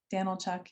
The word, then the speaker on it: Danilchuk: Pronounce it Danilchuk. You can just say Daniel and Chuck together if it's a challenge.